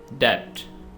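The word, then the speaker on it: debt: डेट, यहाँ पे भी बी साइलेंट है।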